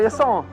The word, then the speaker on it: Yasson: It's French. It's actually, there are French-Canadian communities in upstate New York, so... Yasson. People pronounce it wrong, though. Oh, they're too hard on the A. Jason.